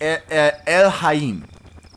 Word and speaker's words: Elhaym: a very good point the way you pronounce it is El is elim elim elim it you're not supposed to be able to pronounce it because it's not an actual word what it is and